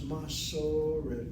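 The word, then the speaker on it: מסורת: The emphasis is on the medial vowel, second of the three syllables. And then the last syllable is CBC. Short vowel single, closed syllable is regular. Short vowel should be part of a closed syllable. The word is masoret.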